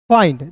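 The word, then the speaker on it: find: सभी को पता है किसी भी वर्ष के अंतिम में आई एन डी दिखेगा। तो इसका उच्चारण आइंड के रूप में करेंगे। किसके रूप में दोस्त? आइंड के रूप में करेंगे। तो हो जाएगा दोस्तों फाइंड।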